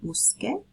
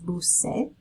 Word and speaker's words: busqué: Again, if we did not change the spelling, we would have to pronounce it as bucé, which actually means that like you snorkeled, which is not what you want to say. Busqué with the spelling change. It lets you keep that pronunciation, and then it sounds like you looked for.